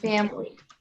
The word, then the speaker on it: family: Or If family.